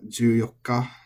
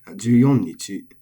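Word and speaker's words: 十四日: There were some people that would pronounce day 14 as juyokka. Some of them would pronounce it as juyokka, and I've heard from a friend that it's actually more common to say juyonnichi as a nakadaka word.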